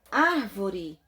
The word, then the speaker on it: árvore: tônica está na última sílaba e já palavra árvore em sílaba tônica estaol uma duas três na terceira